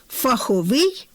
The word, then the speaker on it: фаховий: Фаховість - другий наголошений склад, фаховий наголос на закінченні, тобто на третьому складі.